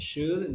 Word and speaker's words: should: good just a pronunciation it is should not chew with ch but should with s h so should is soft so repeat the word